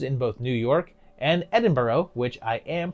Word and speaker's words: Edinburgh: From there, it also had later productions in both New York and Edinburgh, which I am pronouncing correctly.